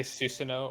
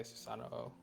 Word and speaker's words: Susanoo: You Yeah, could say Susanoo or you could say Susanoo. yeah. Either one is fine.